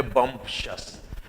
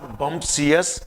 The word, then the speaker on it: bumptious: यह शब्द आपके सामने बम्पशस। पहले तो प्रोनाउंसिएशन देखिए, इट्स नॉट बम्पशियस, इट्स बम्पशस।